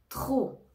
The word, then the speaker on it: trop: il fait très froid trop trop attention ne prononce pas le P trop ça indique une